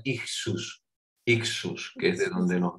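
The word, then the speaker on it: ἰχθύς: Nos dice este ictis, que es una palabra griega, como veis, se pronuncia ixus, que es de donde nos viene el término a nosotros.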